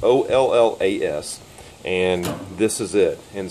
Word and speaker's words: olla: how you pronounce it whether it's all your's or ollas it's olles and this is it